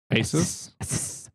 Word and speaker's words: Asus: Asus. Asus. I would say Asus.